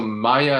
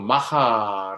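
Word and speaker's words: maja: 부인 이라고 부르기도 했습니다만 여기서 마이아 라는 것은 사람은 이름이 아니고 스페인으로 마하 라고 발음하고 끝내 주는 여인 또는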